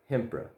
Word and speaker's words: Hympre: if you're, I mean, you could also just call it Hempra. You know, kind of learning a bit from the English pronunciation of Edinburgh. So, yeah, Hempra.